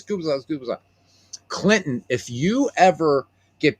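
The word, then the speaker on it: Gubicza: It's gooa.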